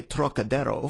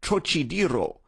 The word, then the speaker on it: Trocadero: That peculiar throaty aspirate the Frenchman gives to the first syllable, as though it were spelled Turok, is utterly beyond the Chinese, and beyond the American, too, whose idea of the tonsillar aspirate leads him to speak of the trochidero, naturally falling back